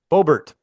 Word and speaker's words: Boebert: So Representative Lauren, how do you pronounce that? Boebert.